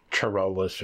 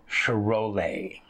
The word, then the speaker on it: Charolais: the other ones which I was pronouncing completely wrong while I was saying Charolais or something like that it's um cherole and that's the cherole